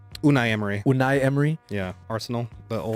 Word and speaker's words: Unai Emery: Unai Emery? Unai Emery.